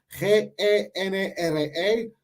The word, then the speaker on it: genre: So, genre, G-E-N-R-E, pero dice genre. Como creo que es francés y usamos la pronunciación francesa.